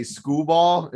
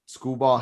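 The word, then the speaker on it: Skubal: I'd rather go and play Scooball. I don't know if that's how you pronounce his name. Tyreek, how is it, DC? Scooble.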